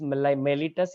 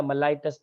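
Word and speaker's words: mellitus: जो डायबिटीज हमने सुनी है उसका नाम डायबिटीज मेलिटस या मलाइटस प्रोनाउंसिएशन है, उसका दो तीन प्रोनाउंसिएशन है।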